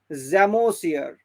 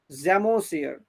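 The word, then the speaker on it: psammosere: স্যান্ডে হলে জ্যামোসিয়ার। পিটা এখানে উচ্চারণ হবে না, জ্যামোসিয়ার।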